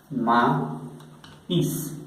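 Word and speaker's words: maïs: Pero cuando encontramos esta trema, se va a pronunciar por separado, como por ejemplo en la palabra maíz, maíz, maíz, maíz. Quiere decir que cuando encontramos la trema no la pronunciamos como una E, sino separado, maíz, maíz.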